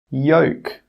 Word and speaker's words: yolk: Some example words are walk, half, calf, yoke, could. In all of these words, we are not pronouncing that L sound.